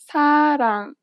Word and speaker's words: 사랑: 사랑. 사랑. It sounds closer to an L than an R in English.